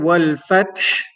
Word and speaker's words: الفتح: So the letter that we have in the word wal fath is ha, ha.